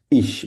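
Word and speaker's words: ich: তো আমি ইংরেজিতে আমরা কি বলি আই বলি ঠিক আছে আর জার্মান হচ্ছে ইশ তো দুইভাবে বলা যায় অনেকেই আমরা ইশ বলি অনেকে আবার হচ্ছে ইখ বলি অনেকেই ঠিক আছে ইখ কারা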